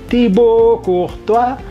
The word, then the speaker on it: Courtois: tua tibok uh tua dibacanya seperti itu karena kombinasi A itu oh ke atas Oh gitu kemudian as tidak bunyi t dari kata tiba out itu itu juga akhiran yang tidak bunyi biasanya tidak bunyi Tibo